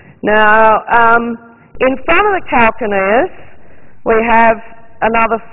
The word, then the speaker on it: calcaneus: Sometimes pronounced calcaneus, but I use the English pronunciation, which is calcaneus.